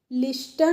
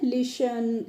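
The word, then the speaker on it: listen: Double L वाई तो एल आई एस टी ई एन को friends हम लिस्टन नहीं पढ़ते हैं। क्या पढ़ते हैं? लिसन यहां पे जो टी होती है वो क्या रहती है? साइलेंट रहती है।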